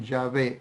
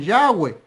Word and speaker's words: Yahvé: Bueno, 4 consonantes como estas, solamente hasta donde podemos saber se pronuncian Yahvé. Otros lo pronuncian Yahweh, otros lo pronuncian Yahweh, pero hay un problema allí. ¿Por qué? Porque la Yod, la Hei, la Vav y la Hei se pronuncian Yahvé o Yahvé.